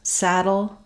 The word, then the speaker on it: saddle: have the letter T, all of these words have the same ending syllable, which is a flap sound and a syllabic L that sounds like dull.